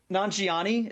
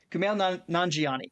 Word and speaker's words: Nanjiani: Nanjiani. I've been mispronouncing it wrong this entire time. I always thought that the I was before the J, and I read it today and I'm like, "Oh, it doesn't.